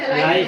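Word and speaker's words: alias: तुम लोगों ने एलियास का कीवर्ड पढ़ा था, एसक्यूएल में एलियास पढ़ा था जो रीनेम करते हैं कॉलम को टेम्पररी। एज एलाइज name. अंग्रेजों उसको एलियास एलाइज दोनों प्रोनाउंस करते हैं।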